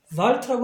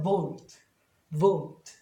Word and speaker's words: vault: 뒤에 자음 두 개라고 생각하는 게 아니라 단모음 발음을 그러니까 R라고 하는 게 아니라 O로 해요. 그러니까 cold. 예를 들면 뭐 이렇게 있으면 vault라고 하는 게 아니라 vault.